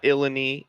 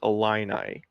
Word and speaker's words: Illini: It is not Illini, it is Illini.